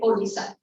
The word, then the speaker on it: Odisha: Both are spelling different, but they both pronounce it Odisha.